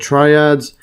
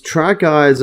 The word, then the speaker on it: tracheids: See this pronounced, or tracheids. Called tracheids. Okay, tracheids. Yeah, so it's tracheids. Actually, I just searched it online, and it's they say tracheids. Yeah, so I think the actual pronunciation is tracheids.